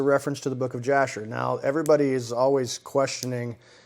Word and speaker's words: Jasher: the book of jasher i pronounced it slightly weird with the with a why yashar but yes it is a reference to the book of jasher now everybody is always